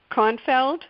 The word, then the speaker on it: Kornfeld: Kornfeld, is it how you pronounce that? Yeah, that's correct.